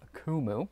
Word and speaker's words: Coomooy: of keyboard for you this one is from kumu that's how it's pronounced and it's a Bluetooth foldable keyboard with